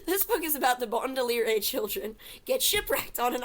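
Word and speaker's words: Baudelaire: book is about the bondoliere children Get Shipwrecked on an island I love the idea of bondolier as in rhyming with Gondolier so many misspellings of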